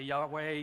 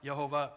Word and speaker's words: Yahuwah: about this some say Yahweh the King James says Jehovah Jehovah look uh we're talking about four consonants and we're doing the best we can the pronunciation I've landed on is yahuwah so if you hear